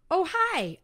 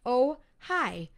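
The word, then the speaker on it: Ojai: of these oh pronounced oh hi oh what a great name for a town oh hi spelled o j a i but pronounced oh hi very nice hi everyone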